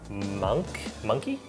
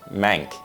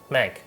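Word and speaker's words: Mahnke: The artwork is by Doug Monkey? Doug Mank? Monkey. Doug Mank. Monkey. How do you say that word? Mank. Mank.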